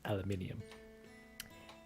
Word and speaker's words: aluminium: second aluminium aluminium like both ways of saying it are are correct it depends on on I guess her nationality because I was taught to pronounce it as aluminum but I often see many people talk pronouncing it as aluminium and then I say